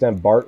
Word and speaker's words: Bart: I I've heard it Bart, so there's a little bit extra at the T. So, it's Bart, like Bart Simpson. It's Bart.